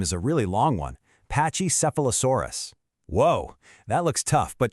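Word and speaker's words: Pachycephalosaurus: Let's just break it into easy little pieces. Just say it right after me. Ready? Pak. Nice. Okay, now seph. Awesome. Next up, low sore. And to finish it off, us. Let's put it all together. Pachy sephilosaurus.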